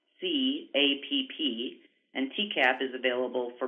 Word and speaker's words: TCAPP: These are both available through our certification app, which we call TCAP. It's spelled TCAPP, and TCAP is available for both iOS and Android devices and can be downloaded free of charge.